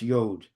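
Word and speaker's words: יוד: Olive through yud or also pronounced yod.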